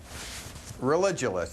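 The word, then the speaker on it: Religulous: of your movie it's religionist it's like you're saying religion and then you go to ridiculous for obvious reasons well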